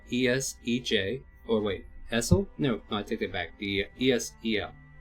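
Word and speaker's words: Esel: One of them is called Essej, which is spelled E-S-E-J, or wait, Essel?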